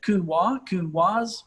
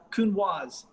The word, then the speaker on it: Counoise: one is saying the name you hear it pronounced so many different ways it's like is it kunwa like what is it the only way i